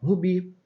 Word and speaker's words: rubi: Ó, rubi. O bi é a sílaba tônica. Repare que não tem acento, mas é a sílaba tônica, a sílaba forte dessa palavra.